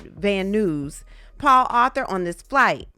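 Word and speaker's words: Van Nuys: Agent Cersiello says to and from Las Vegas to Van Ny. He pronounces it van news.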